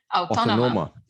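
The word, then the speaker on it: Autònoma: you went to Barcelona, Universitat how do you pronounce that? Autónoma.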